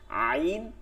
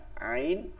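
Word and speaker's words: ع: আচ্ছা পরের, এরপরে হচ্ছে হলকের মধ্যখান থেকে, হলকের মধ্যখান, মধ্যখান মানে হচ্ছে এই মাঝখানটা থেকে, গলার মাঝখান, কণ্ঠনালী মাঝখান থেকে উচ্চারিত হয়। আইন হ্যাঁ, আইন হ্যাঁ, ঠিক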